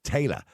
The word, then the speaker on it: Taila: that's Taylor so yeah we'd pronounce that Taylor but Taylor Madison and if you